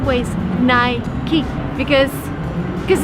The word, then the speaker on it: Nike: would say nike but the right way is nai ki because because it's just the way it's pronounced so nike now we're gonna learn two